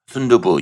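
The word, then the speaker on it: 순두부: Sundubu.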